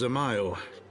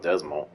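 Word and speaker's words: Dzemael: nonetheless alas is also a son of house zamayo oh that's how they pronounce it i call it desmal how quickly we forget the petty nature of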